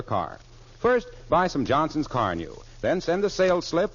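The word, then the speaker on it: Carnu: initials get some Johnson's car new tomorrow sure car new is spelled c a r Nu now I'll repeat the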